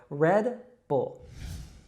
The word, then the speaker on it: Red Bull: And so make sure you don't make any extra sound after that D. It's just red, like the color, red. And then bull, we have that dark L sound again. So Red Bull.